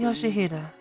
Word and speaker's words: Yoshihide: 아니, No, 그 that's 글자는 not how you 그렇게 read those 읽는 게 letters. 아니라 요시히데라고 Yoshihide. That's how you say it.